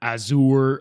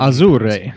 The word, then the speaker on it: Azure: The service uses Microsoft's Azure, which everybody pronounces that wrong, which is hilarious because they don't actually deal with like infrastructure. Like I talk about Azure every day. It's Azure. It's not Azure or Azure.